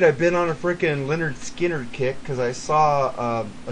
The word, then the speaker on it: Lynyrd Skynyrd: I was gonna do that one or it's pronounced Lynyrd Skynyrd but I think we'll do this one it's